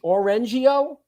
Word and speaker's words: Orangio: that right ed or orange like an orange orangio yep yo you got